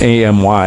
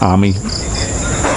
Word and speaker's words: Amy: It's A-M-Y, Amy, I would say, but I believe it's pronounced Ami.